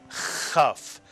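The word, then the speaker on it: כ: And if you take the dagesh out of the kaf, it's still a kaf, but it is pronounced chaf, the slight clearing of the throat.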